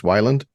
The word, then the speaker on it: Weiland: the rock magic so I've been mispronouncing it my whole life I've been saying Weyland this whole time it's Wyland I guess that's just